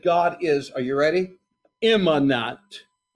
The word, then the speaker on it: immanent: Immanent. Immanent. Let me spell it. I-M-M-A-N-E-N-T.